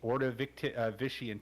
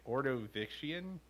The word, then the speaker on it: Ordovician: Ordovician. Who can say? Ordovician. I don't know if it's a hard C. If it was Latin, it would be a soft C.